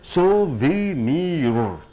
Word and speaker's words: souvenir: அதை உச்சரிப்பது பாருங்க, சோவினீர். 4 சத்தங்கள் வருகிறது. சோவினீர் என்று சொல்லும் பொழுது பெயர் சொல்லாக இருந்தாலும் இது ERல முடியக்கூடிய பெயர் சொல். அந்த ERக்கு முன்னாடி வரக்கூடிய அந்த NEEக்கு அழுத்தம் நீங்கள் கொடுக்க வேண்டும். சோவினீர் என்று சொல்லும் பொழுது ஆப்ஜெக்ட்